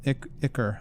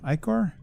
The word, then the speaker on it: ichor: water, blighted by crimson ichor. Ichor? How do you say that word again? It's a word I've often read but seldom had to say. Ichor. I was right the first time.